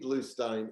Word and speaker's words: Bluestein: forward slash books but you know it's it's stein even even though it's spelled s-t-e-i-n and people say well why isn't it steen i said well it's bruce springsteen e-e-n and it's feinstein not feenstein and i have